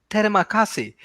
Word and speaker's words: terima kasih: It's called terima kasih.